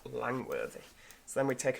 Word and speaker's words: Langworthy: Langworthy Park. Good effort game, but it is just Langworthy.